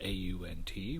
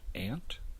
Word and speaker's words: aunt: One well-known example is the word spelled A-U-N-T, which is sometimes pronounced ant and sometimes pronounced aunt.